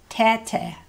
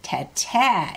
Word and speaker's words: tete: Now you might remember tete is big. So be sure to pronounce this word a little differently. Tete. Hear how I'm saying the first part louder? Tete is play. Tete is big.